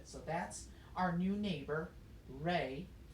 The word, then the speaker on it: re: we introduce ourselves formally it's pronounced ray spelled with the letter R so I encourage you